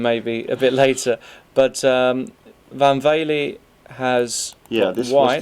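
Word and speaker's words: Van Wely: You pronounced Van Vele very well.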